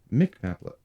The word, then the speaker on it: McMaple: I was like, Is it pronounced Mick or Muck? Mick, me, For everything. Mick Maplet. Bro, I've been calling it Muck. Why have you? There's no U.